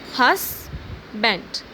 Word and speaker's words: husband: Here we have two syllables, husband. The stress is on hus and then band, husband.